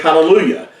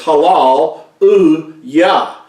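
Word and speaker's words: הללויה: halya in English a lot of people say hallelujah but it's actually would be accurately pronounced as Halal yaah that's how and that course it mean trans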